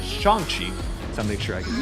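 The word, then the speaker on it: Shang-Chi: good support for shanxi also i might end up mispronouncing this apparently it is shanxi so make sure i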